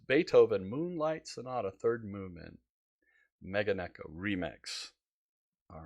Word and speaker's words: Meganeko: Matt is sharing one of his favorite artists, a one-man band from Sweden called Magneto. Is that how you pronounce it, Matt?